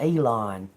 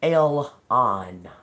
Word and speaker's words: Elon: Um um we got something down here about Did y'all know that we've all been pronouncing Elon Musk's name wrong? His name's not Elon. It's Elon.